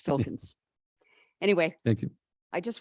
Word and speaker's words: Filkins: It's never easy to pronounce. It's Filkins.